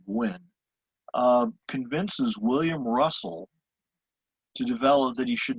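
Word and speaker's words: Gwin: a california senator and i've seen his name spelled both g-w-i-n-n and g-w-i-n-n but we'll pronounce it gwen um convinces william russell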